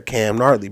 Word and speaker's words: Gnarly: And when I saw that, I was like, "Oh, that's it right there, Cam Gnarly," because the G is silent.